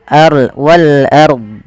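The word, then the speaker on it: وَالْأَرْض: Dya ini kesalahan Nah kalau kita waqaf pada lafal ini lafal Wal ARD itu harus dibaca dnya ada kebanyakan kita tidak membaca Nah ini salah yaitu wal wal Ar Wal ARD Ah tidak ada bnya Harusnya Wal ARD Wal ARD ah Dya dibaca walard Wal ARD kita coba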